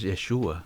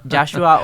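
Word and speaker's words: ישוע: Y escuché a un rabino decir el otro día de que no es Yeshua, es Yahshua. Sí, es Yahshua o Yeshua. Los dos son aceptables en el hebreo.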